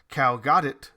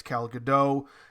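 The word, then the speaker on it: Gal Gadot: heard it pronounced as Cal gdau that makes way more sense to me especially with the fact that I'm sure the t is not pronounced as it is in the normal English dialect so my apologies previously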